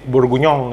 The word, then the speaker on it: bourguignon: kita mau bikin beef burgunyong ya susah banget namanya burgunyong ya tulisannya bor guignon gitu ya tapi itu bahasa Perancis jadi bacanya nah atau bahasa Inggrisnya itu